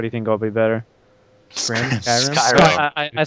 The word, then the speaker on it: Skyrim: like, what would you think is better, the Scrim or the Rage? Like, what do you think will be better? Skyrim?